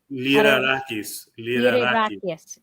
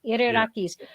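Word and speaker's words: Lyrarakis: Liderakis. Liderakis.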